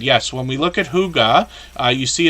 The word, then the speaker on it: hygge: when we look at hygge uh you see it's pronounced as if it would be spelled h-o-o-g-a and they let us